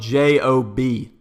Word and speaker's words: Job: It's actually spelled Job. Why? I have no idea. I don't know how that's a long O. It's literally, the book is spelled J-O-B. Literally, I don't know who translated the Bible. I don't know if they forgot an E. But it's pronounced Job as far as I know, unless every pastor has been messing with me.